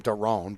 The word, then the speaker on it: Daron: I think they pronounce this kid's name Daron, but I've always called him Darren for whatever reason. But I think it's Daron.